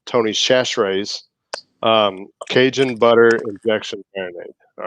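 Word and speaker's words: Tony Chachere's: for a turkey is tony cash raise actually let me say it properly tony's chashrae's cajun butter infection marinade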